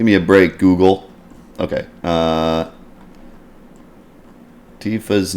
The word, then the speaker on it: Tifa: a break google ok tifa's name divas name is pronounced with the long e Tifa rather than a short i Tiffa Tifa maybe shortened version